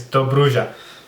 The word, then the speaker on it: Dobruja: It's Dobruja.